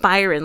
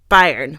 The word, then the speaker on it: Bayern: of Bayern Munich it's it's not Byron like we're saying like Byron it's like Bayern Bayern Munich it's more like Bayern Munich I for some reason